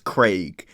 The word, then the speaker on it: Craig: Craig whereas in America we just kind of pronounced that name as like with like as if it had an e like c e g Craig anyways those are the